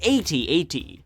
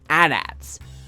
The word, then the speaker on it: AT-AT: is often mixed up the official way to pronounce their name is 8080 an acronym for allterrain AR transport but most fans tend to look for a more convenient way to say their name dubbing these machines adats I have personally always